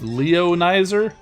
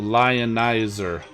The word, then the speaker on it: Lionizer: Sharksy's asking, could Lionizer be pronounced Leonizer? I would say no, because he is a lion, and he ionizes, and those are the 2 words I think they put together, lion and ionize, so Lionizer.